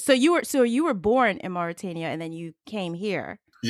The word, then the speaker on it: Mauritania: So, I mean, Oh, first I want to ask you, I know your family is from Mauritania. Is that the correct pronunciation?